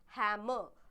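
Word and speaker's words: hammer: भी प्लीज ध्यान रखिएगा हैमर आर जो होता है हमारा वो साइलेंट होता है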